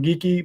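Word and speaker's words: Geekie: last name so it's morgan gekki or geeky i think you pronounce it geeky is always how i pronounced it he was a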